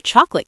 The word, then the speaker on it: chocolate: The phrase is, "I will have the chocolate cake and a coffee, please." Once again, we use I will have. And remember, the word chocolate usually only has two syllables in fast spoken English.